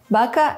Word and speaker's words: baka: Consider baka and baka, or pito and pito. You can also hear how the stressed vowel is pronounced longer.